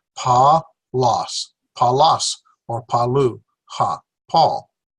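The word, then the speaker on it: Παῦλος: A diphthong and another vowel. So there's 3 syllables. Pa-los.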